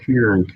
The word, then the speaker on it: Kieran: Kieran. My story of Dory. Like I said, pronounce it like Kirsten, but without the ST.